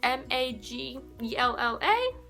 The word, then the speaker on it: Majella: So I watch Majella, it's Maggella.